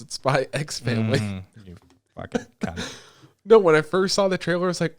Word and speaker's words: Spy x Family: all say no do you don't pronounce the x i want proof i want proof i want video proof dude spy family okay i'm gonna be